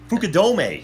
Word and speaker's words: Fukudome: you're trying to think of Fu K D Fukudome you're thinking of hookah domain okay don't be